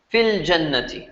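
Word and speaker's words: في الجنة: But what's going to happen is you're going to pronounce fi al-jannati short. So you're going to pronounce this fil jannati.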